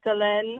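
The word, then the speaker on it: Solène: So just keep that in mind going forward, is that the audiobook pronounces it as Selene Marchand, and just reading it, I would have pronounced it Celine too.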